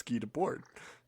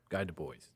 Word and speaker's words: Guy Debord: And I went, it's Guy Debord. How do you not know that? You idiot, Jacob. Clearly, How do you spell that just for everybody? Guydebord. Okay. Guy Du Bois, the Americans.